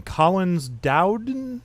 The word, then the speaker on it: Collins-Dowden: We have, I'm going to screw up your last name, Collins-Dowden?